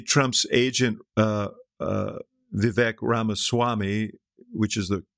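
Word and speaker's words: Ramaswamy: this will maybe Trump's agent uh uh Vic ramaswami which is the correct pronunciation uh will uh take this matter up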